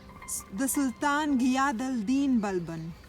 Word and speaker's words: Balban: The Sultan Ghiyas Din Balban. His name is spelt with two B's separated by an L, each followed by the vowel A and an N at the end.